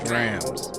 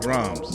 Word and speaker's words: drams: dreams first and foremost it's pronounced drams not drugs not drums what you got in